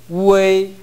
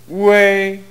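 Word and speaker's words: 外: 우 우 그 발음이 반드시 처음에 나와줘야 됩니다. 우웨이 우웨이 좋습니다. 그렇게 하셔야 됩니다. 다시 한번 해보십시오. 우웨이 네, 아까는 우 발음이 생략됐습니다.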